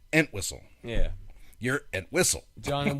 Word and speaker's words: Entwistle: Why are you putting the emphasis on the wrong syllable? Yeah, right. And Whistle. Everyone else I've ever heard say his name says Entwistle.